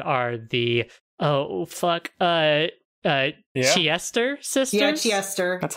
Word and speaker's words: Chiester: In Japanese, it's pronounced like Siesta, which, like, in early translations, they were actually, their name was translated as the Siesta sisters, like, like taking a siesta. But no, they're the Chiester sisters.